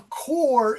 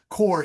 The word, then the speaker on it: corps: Corps, C-O-R-P-S, corps, like the United States Marine Corps. So it's like an apple core, C-O-R-E. It's the same pronunciation.